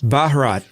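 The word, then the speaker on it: Bharat: The background I was looking up how to pronounce India in Hindi and it's Baharat.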